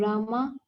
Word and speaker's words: Rama: The words Hare pronounce Hare, Krishna pronounce Krishna, and Rama remains with drama are Sanskrit words.